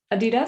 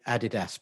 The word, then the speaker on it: Adidas: Adidas? I say Adidas, but that's Adidas. Because I'm from the 70s London. Adidas. Everybody else says Adidas.